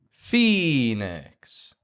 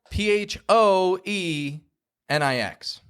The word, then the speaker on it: Phoenix: voice clearly c Tennessee Phoenix that one's tricky cuz it's spelled p h o e n IX but the O isn't actually pronounced it's just the E Phoenix canu uy fading